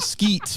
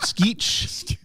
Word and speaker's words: Skeech: like not Skeet, but Skeech. Not Skeet Ulrich.